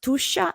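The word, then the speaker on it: Tuscia: the heart of tusha this is pronounced tusha and tusha is precisely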